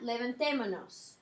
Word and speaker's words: levantémonos: Notice there's an accent in that levantémonos. Okay, because you want to maintain that same sound of the verb. And you want to keep that pronunciation consistent. So the E on that amos ending is now accented.